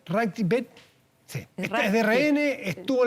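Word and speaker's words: Rathgeb: ¿Cómo se pronuncia? Ragbet.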